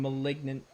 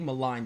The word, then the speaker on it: maligned: rido was insulted and malignant why is he not angry I think maligned is how you say that word Roo has a very